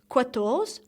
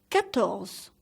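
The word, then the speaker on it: quatre: slightly has pairs cattos so please don't say cuatros but kettles kettles cans don't see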